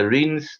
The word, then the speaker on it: Rennes: It's pronounced as Rennes, and I'll be making a few notes on the World Environment Day.